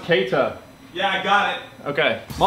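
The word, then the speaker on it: Keïta: Someone in the comments told me to tell Jimmy that his name is pronounced Keita. Hey, Jimmy, his name is pronounced Keita.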